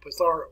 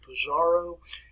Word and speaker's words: Pizarro: that last name botharo patharo let's not pronounce it pizarro it's patharo put a little ta's pronunciation where the z